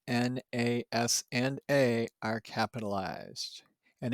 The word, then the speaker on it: NASA: So all three letters N, A, S, and A are capitalized, and it is pronounced as one word, NASA.